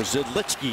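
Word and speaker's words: Židlický: Or Zidlicki is the correct pronunciation of his names.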